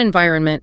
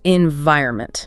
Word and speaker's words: environment: It is not environment, it's environment. Right. The stress is on the second syllable.